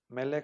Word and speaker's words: melej: meleg melej vean que aquí sí tiene acento no Entonces no se pronuncia al acento hasta la última sílaba se pronuncia aquí en la sílaba de la m y la e meleg Bueno aquí en meleg